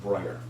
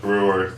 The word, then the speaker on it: Breuer: in the 1800s and his name is BRE yu-er if I was in Bavaria and I met someone with that name I would pronounce it brighter okay but since you went importantly he may have anglicized it and he may have been known as Breuer every will stick with Breuer okay today that was